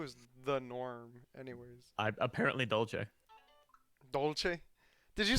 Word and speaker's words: dolce: the same yes dad who told me it was dolce i'm so sorry well in italian it is because they spell it d-o-l-c-e okay my my dad